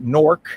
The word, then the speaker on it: Newark: But as many Italian-Americans did over the years, they would start out in Newark, or as the locals pronounce it, Norc, like NK Norc.